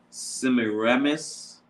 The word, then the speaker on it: Semiramis: But she is so like, let me type in, make sure I pronounce it right. Let's see. Her name is Semiramis.